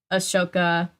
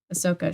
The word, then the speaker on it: Ahsoka: tardis uh iron man is on the side ashoka ahsoka why did i say her name wrong ahsoka she's the best character um from clone wars